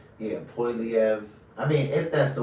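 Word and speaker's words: Poilievre: I've even heard some people say Polivier. That's why I'm like, how are they pronouncing his name? Let's see. It's like so subjective too. It's kind of like people say Oregon. Poiliev. Yeah, Poiliev.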